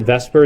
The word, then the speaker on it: VSEPR: to do that is called vs epr people pronounce it Vesper even though the S becomes before the e